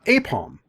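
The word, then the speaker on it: Aipom: the Pokemon what's yeah what's this is uh apom but it's spelled a-i-p-o-m so also maybe Pom-Pom right he's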